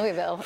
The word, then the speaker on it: Louisville: If you say the way they say Louisville in Louisville is Louisville. Louisville. But right. I like, Louisville. All, I like adding Louisville. That it's Racing. It's all one syllable.